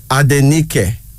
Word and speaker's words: Adenike: always love her so the name is adeniki a d e n i k e adenike the second African name is now akwe